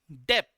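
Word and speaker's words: debt: तो इसे हम लोग कहते हैं डेप्थ डी ई बी टी डेप्थ ठीक है बी साइलेंट ओके कोई और स्पेलिंग मत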